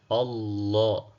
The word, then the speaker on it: Allah: Kanuni inasema herufi iliyopo nyuma ya jina la Mwenyezi Mungu ikiwa na fatha au dhamma then jina la Mwenyezi Mungu linakuwa zito mdomoni.